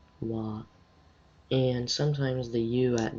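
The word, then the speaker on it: は: it's where this ha it's not unknown it's wah and sometimes the you at the end of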